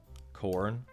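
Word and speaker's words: Khorne: be like everything's connected corn it's spelled a little bit different than that but it is with a K you got that right k h o r n e and and guess and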